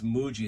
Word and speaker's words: Muji: If you take a look at this, it says Muji.